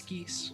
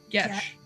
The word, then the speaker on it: geas: It's geese.